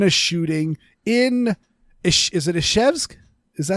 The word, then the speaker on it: Izhevsk: I believe it's pronounced Ishevsk.